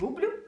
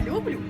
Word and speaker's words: люблю: як щодо почуттів Я люблю чи люблю а тепер до найпре кохання запам'ятайте неправильно говорити люблю роблю кажу наголос що падає на перший склад цих слів є ознакою діалекту А тепер цікавинка щодо